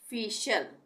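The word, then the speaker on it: facial: रहा है तो यहां पर भी श का उच्चारण होगा टी के लिए पार्शल उसी तरह से फशल फशल एफ ई फी हो गया टी आई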